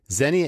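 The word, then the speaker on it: Xenia: team/ rockstars Zenia is spelled X e ni a hey everyone welcome back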